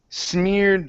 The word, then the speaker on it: smeared: So, smeared white. So, use a D. Okay. To make that D sound.